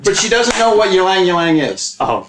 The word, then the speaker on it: Ylang ylang: Ylang ylang rhymes with wang.